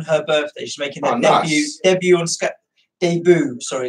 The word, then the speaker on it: debut: Pronounce it properly. It's a French word. It's the English version of the French word.